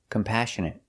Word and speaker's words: compassionate: next word is compassionate we put the stress on the second syllable compassionate compassionate means you